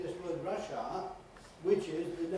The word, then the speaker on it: Russia: In other words, it's Russia, with the schwa at the end, but they say Russia and make that A into a clear R vowel, which no native speaker does.